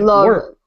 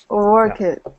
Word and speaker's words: worked: And worked, a T sound, no extra syllable. Worked. Ah, damn it. Work it.